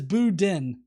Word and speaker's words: Boudin: Jester says Boudin. So apparently I was pronouncing it wrong the entire time, which is fine.